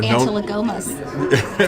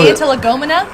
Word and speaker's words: antilegomena: Antilegomas. Ooh, see, you know some of the I big use that words. right? Yeah. No, wait, well, Antilegomena? Yeah. Yeah, no, you said it right.